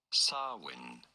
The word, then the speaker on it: Samhain: How do you go about pronouncing it? Samhain.